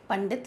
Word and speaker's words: पंडित: तो यहाँ पर पंडित शब्द का जो सही उच्चारण है, मैंने जब अभी आपको इसके पहले ये पाठ पढ़ाया था, तो ये है सही पंडित शब्द, जो हम पंचम वर्ण